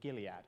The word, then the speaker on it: Gilead: company was then sold to how do you pronounce that company's name Julia Gilead okay but for 11 and a half billion